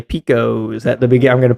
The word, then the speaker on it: Pekosz: Picos. Picos. Dude, oh my God. We've been pronouncing your name wrong forever.